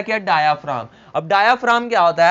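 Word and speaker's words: diaphragm: है क्या डायाफ्राम अब डायाफ्राम क्या होता है ये जो सा जी है इसमें क्या होता है साइलेंट होता है डायाफ्राम अब डायाफ्राम क्या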